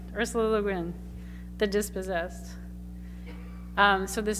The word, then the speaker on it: Le Guin: the green how do you say her name Le Guin Le Guin Ursula Le Guin the dispossessed um so this is the young